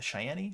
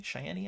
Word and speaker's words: Cheyenne: the town of Cheyenne and that's c-h-e-y-e a Cheyenne Cheyenne I think it's pronounced I think I said Cheyenne that's what I said I was just making sure you guys knew how to pronounce it so it's you